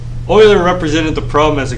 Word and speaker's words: Euler: uh in 1736 and that's pronounced euler i got that one even though there's no o in it but that's okay or i oiler represented the problem as